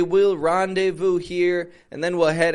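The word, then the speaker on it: rendezvous: cafe with his fiance a randevu another two-part word this is using two French words and it's a very common English expression a randevu is when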